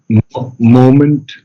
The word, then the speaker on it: moment: I'm missing um oh moment moment M moment no moment Accent on the first syllable moment moment okay yes